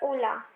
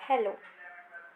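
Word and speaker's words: hola: Video में ही कि एच की जो प्रोनाउंसिएशन होती है वो होती नहीं है. ठीक है, एच जो होता है वो उसमें साइलेंट कहलाता है, लिखते हैं बट उसे बोला नहीं जाता है. ठीक है, तो इसे हम होला नहीं ओला बोलेंगे.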